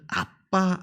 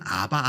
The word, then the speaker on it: 아빠: 성령이 우리로 하여금 하나님을 아빠 아버지로 부르게 한다 말합니다 아빠 뭐지 예전 성경에는 아바 아버지 로 되어있는데 성정이 다시 개정되면서 아빠 아버지 라고 번역되어 있는데 아빠가 더 정확한 발음입니다 예 2 원어 상